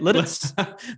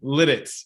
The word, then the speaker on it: Lititz: It's spelled Lititz. How do you say it? Lititz? Lititz. Yeah. Lititz.